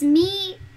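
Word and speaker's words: Mi-Teintes: The materials I'm using are listed in the description, and they, so the way you pronounce this paper is Mi-Tientes. Mi-Tientes, as in T-O-N-T-S.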